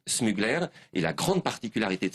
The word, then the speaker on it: Smuggler: la marque c'est smugler alors vous ne prononcez pas smugler à l'américaine non c'est smugler et la grande particularité